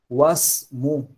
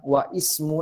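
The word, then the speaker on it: واسم: Jadi hamzah wasal ini jika dia terdapat di tengah kalimat, dia tidak dibaca. Langsung disambung ke huruf yang setelahnya. Jadi bacanya wasmu, bukan wa ismu lagi.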